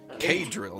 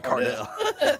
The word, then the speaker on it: K-Drill: It's K-Drill, not Cardell.